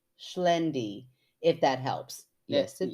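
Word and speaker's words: Xlendi: got like oh no and then she said pronounced schend if that helps yes it does thank you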